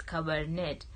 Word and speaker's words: Cabernet: carbonate Sauvignon like it's when you spell it it's see a be ER and et but when you read it it's cover net so Neal Casillas de